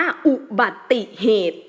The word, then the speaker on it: อุบัติเหตุ: นี้ มา รวม กัน เรา ต้อง อ่าน ว่า อุบัติเหตุ อุบัติเหตุ ออก เสียง ติ เสียง ติ ซึ่ง เป็น เสียง สระ อิ เนี่ย ค่ะ ตรง กลุ่ม กลาง